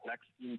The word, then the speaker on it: Blaqskin: My company name is Blackskin Tattoos. It's spelled BLAQSKIN.